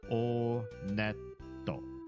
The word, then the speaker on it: Onet: It is pronounced Onet. I did check the Japanese pronunciation. And in Japanese, when you go to this first town, they pronounce it Oneto. Oneto. So, Onet.